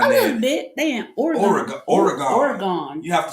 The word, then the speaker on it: Oregon: But when you get up there, you have to say, Oregon. My pinky just came out by and said, Oregon. Yeah. You got to say it right for up there.